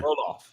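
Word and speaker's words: Roelof: I was going to ask you to pronounce that, please. Yeah. Rolaf.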